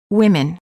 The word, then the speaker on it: women: the food beans also in the word women the O is pronounced as I women word pairs big city